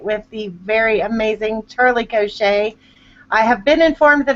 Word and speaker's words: Cochet: I have been informed that her name is actually Cochet and not Cochette, as us Southern folk like to say. So if you are wondering how to say it, that's how you say her last name.